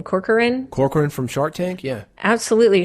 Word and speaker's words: Corcoran: Corcoran from Shark Tank?